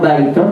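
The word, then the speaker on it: بيت: Pasti antum mikir, ini ba, ya, ta. Dibaca apa ya? Bitun, butun, atau baitun, atau bayatun, bayitun. Ya kan? Tergantung hafalan kita. Baik, saya tanya antum, ba, ya, ta. Apa bacanya? Baitun.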